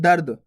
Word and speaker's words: दर्द: अब देखो दर्द किस प्रकार से उच्चारण हो रहा है, दर्द। दर्द मैंने क्या बोला, दर्द। अगर दर्द बोलता तब अलग होता, दर्द। तो पहला अक्षर क्या है यहाँ पे दा, दर्द, दर्द। तो दा और रेफ की मात्रा की दर्द आ रहा ना, देखो रेफ की मात्रा का उच्चारण दा के बाद हो रहा, देखो दर्द बोला आप,